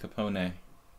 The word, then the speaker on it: Capone: Scheveningen says, yeah, in original Italian, it's pronounced like Capone. Yeah, the Americans bastardized that name.